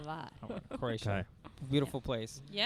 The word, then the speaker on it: Hvar: Hvar. Hvar.